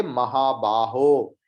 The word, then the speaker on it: महाबाहो: निबध्नंति महाबाहो यह मुहावरों महाबाहो इसको विसर्ग मत कीजिए क्योंकि यह संबोधन पद है इसलिए महाबाहो हे महाबाहो अर्जुन को बोल